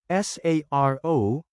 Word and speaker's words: saro: SARO is 1 in Bicol. Change O to the UH and A to AH, then pronounce it as Saro.